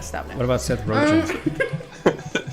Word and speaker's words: Rogen: Rogen. Not Rogaine.